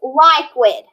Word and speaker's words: liquid: solid but solid here remember that q in that u can't be broken up so it's liquid we drink liquid water